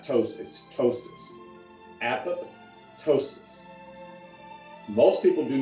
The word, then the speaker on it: apoptosis: often by many people think of it as two words you say apple like apple and then toast but it's not ptosis ptosis apoptosis most people do not